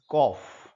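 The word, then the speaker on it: cough: This word is सी ओ यू जी एच इज कॉफ।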